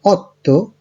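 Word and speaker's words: otto: সেই, 7 এর ক্ষেত্রে সেত্তে, 8 এর ক্ষেত্রে অত্তো, 9 এর ক্ষেত্রে নোভে এবং 10 এর ক্ষেত্রে দিয়েছি।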